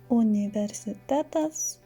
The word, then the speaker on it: universitetas: In Lithuanian will be pronounced uni, because the first sound u in Lithuanian must always be u. Therefore, universitetas, universalus, and unikalus.